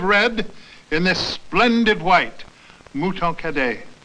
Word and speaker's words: Mouton Cadet: Mouton Cadet. It rhymes with hooray.